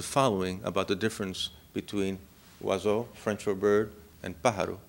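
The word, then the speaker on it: oiseau: for bird know in French and my French pronunciation is terrible so forgive me it's wazo no o i s e Au U uh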